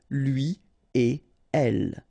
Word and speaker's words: lui et elle: So no links after et. Okay, so if you want to read it correctly here, it will go like lui et elle. All right, so don't think about putting something between the two. Don't think about producing something like lui et elle. No, no, no, nothing here.